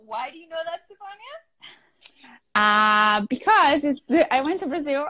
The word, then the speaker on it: Stefania: And second of all, why do you know that, Stefania?